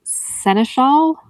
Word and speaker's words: seneschal: I don't know how to say this word. Seneschal? Yeah, that's how you say it. Seneschal.